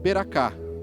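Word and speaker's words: ברכה: aprendemos também na teologia em hebraico se pronuncia ber ap portugues beraká é a benção do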